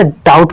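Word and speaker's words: doubt: इसको हम डाउट fought नहीं पढ़ेंगे, इसको हम भैया डाउट पढ़ेंगे, क्योंकि यहाँ बी आपका चुप है, DOUT डाउट पढ़ेंगे। बी लिखा तो जाएगा लेकिन पढ़ा नहीं जाएगा, तो क्या हो जाएगा, डाउट।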